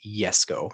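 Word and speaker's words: Jesko: pronounce and then uh the jesco is the yes go if you're pronouncing it correctly yes let's go with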